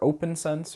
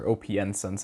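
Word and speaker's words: OPNsense: you used pfSense or open sense or OPN sense i think is actually how you say it you'll be you'll be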